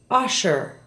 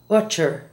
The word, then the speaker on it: usher: Listen to the following SH words and how they're mispronounced in Spanish. Shadow is often said as chado. Cash, not cotch. Usher, not utcher. And she, not chi.